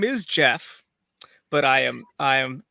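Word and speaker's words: Geoffrey: goofy looking statue so it's it's jeff but it's spelled uh like g off okay excellent very good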